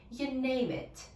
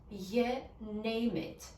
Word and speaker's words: you name it: You, но здесь слово you немножко редуцируется до you. You name it. И name it сливается вместе. You name it. You name it.